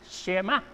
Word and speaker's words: Shema: Y en hebreo se pronuncia Shema.